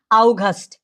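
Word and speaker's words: August: আমাদের আগস্ট মাস আগস্ট কে বলা হয় কি আউগাস্ট আউগাস্ট যদি আমরা ডয় হ্যা যার মানে কোথায়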